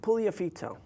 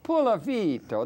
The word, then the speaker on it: Puliafito: Puliafito. Puliafito.